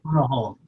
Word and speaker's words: Punahou: Punahou.